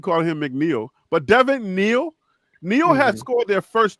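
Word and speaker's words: Neal: for man bro dein mcneel the Scout that I gave Devin mcneel has scored their their first two touchdowns it's Devin Neil not M Neil if you gonna say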